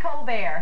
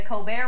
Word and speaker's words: Colbert: stephen colbert he is a charlestonian he's a hard-working comedian and host of the colbert report yes he prefers the french pronunciation he is not an